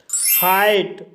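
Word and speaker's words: height: एट शब्द में EI के बाद GH आया है, इसलिए GH साइलेंट रहेगा, इसलिए इसे एट पढ़ा जाता है। हाइट।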